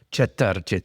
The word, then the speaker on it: Četrtič: Si O pronun- americani si come pronuncia me? Cetartic. Cetarčić.